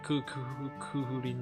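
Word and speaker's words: Cú Chulainn: Kukulin. Yeah, Kuhurin, like the Japanese pronunciation.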